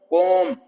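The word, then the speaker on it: comb: वम है टूम बम कोम ब की आवाज नहीं आएगी खैर अभी हम बात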